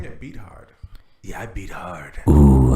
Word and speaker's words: Beathard: Beathard, which is kind of weird because his name is spelled Beat Hard. But he goes by Beathard?